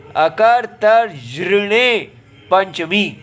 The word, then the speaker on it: अकर्तर्यृणे पञ्चमी: है अकथ जण पंचमी इसका उच्चारण बड़ा कठिन है अ कर त्र अ करतर र ऊपर है तो अकतर ज य ज अकतर जने पंचमी अच्छा जी इसको अष्टाध्यायी